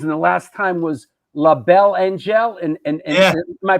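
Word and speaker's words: La Belle Angele: Been up a few times over the years, and the last time was La Belle Angel. And yeah. Am I pronouncing that right? Yeah, La Belle Angel. Yeah. La Belle Angel.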